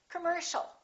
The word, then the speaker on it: commercial: a are both reduced so it's not com or C it's Kum come commercial don't say commercial or commercial it's all commercial all right let's practice